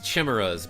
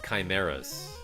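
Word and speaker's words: chimera: Yes, Holly used to call these enemies chimmeras, but later in life found out they're called chimeas.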